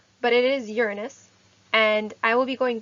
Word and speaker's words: Uranus: me go back and forth on this uh uranus is the correct correct pronunciation and we all have grown up hearing uranus but it is uranus and i will be going back and forth